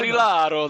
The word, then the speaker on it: Barilaro: Barilaro. That's how you say it.